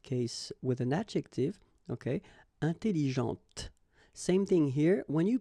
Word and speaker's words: intelligente: Intelligente. Same thing here. When you put this well, actually you will pronounce the final T, okay, but you don't pronounce this here.